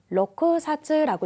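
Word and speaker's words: 六冊: 자, 6권을 뭐라고 읽냐면은 로쿠사츠라고 읽습니다. 6권을 로쿠사츠. 보통 쿠는 초금으로 바뀌는데 안 바뀌었죠. 이것도 외워두시고요.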